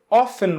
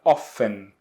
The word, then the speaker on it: often: Mas a pronúncia mais comum, mais usual, é a pronúncia onde esse T aqui ele não é pronunciado, tá? Então o correto é a gente pronunciar often.